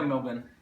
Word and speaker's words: Melbourne: Am I pronouncing that right? Yeah, Melbourne.